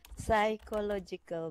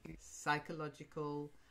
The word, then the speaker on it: psychological: is pronounced there but sigh and then followed by other letters it's a silent P psychological psychology psycho it's a